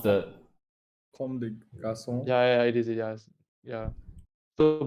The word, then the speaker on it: Comme des Garçons: How do you Like yeah, pronounce that? Comme des garçons.